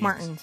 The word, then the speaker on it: Martens: I don't have to scroll back because I'm horrible at pronouncing. But like you've heard of Dr. Martin's India Doc inks. Martens, yes.